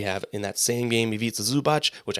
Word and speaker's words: Ivica Zubac: We have, in that same game, Ivica Zubac, which I could not say that name for the longest time. Now we can, because it rhymes with pizza.